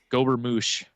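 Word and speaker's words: gobermouch: Gober moosh is how it's said.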